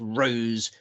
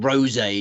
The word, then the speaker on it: Rose: It's pronounced Rose. I think previously when I've tipped her, I've gone with Rosé, just showing a sort of alcoholic's passion for for a drink.